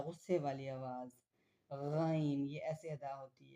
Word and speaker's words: غ: गन यह ऐसे अदा होती है। The epic letter gun is pronounce from the middle part of the throat. The same areas as आइन।